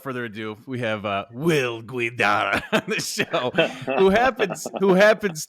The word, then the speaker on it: Guidara: His name is Will Guidara. What a beautiful Italian name. It's supposed to roll off the tongue. Guidara. Yeah, brother. You see that? Love it. Well, without further ado, we have Will Guidara on the show, who